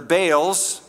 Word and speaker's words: Baal: They forgot the Lord their God and served the Baals. Right pronunciation is Baal and Asherahs.